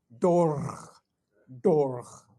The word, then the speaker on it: Torg: I said, Dorg, like that. He says, okay, okie doke, he says, okay. So blah, blah, blah, this stuff happens, and he swings around, he says, say the wrong thing, Dorg, or I'll kill you too.